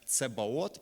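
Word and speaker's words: צבאות: озна значає цаваот саваот на івриті це слово читається як цебаот і дословно воно перекладається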